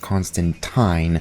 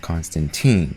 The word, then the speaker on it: Constantine: well well well aware of his name being pronounced Constantine not Constantine which was something that the movie in 2005